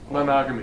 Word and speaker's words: monogamy: Monogamy. Monogamy, that's the word, yeah. Rhymes with monotony.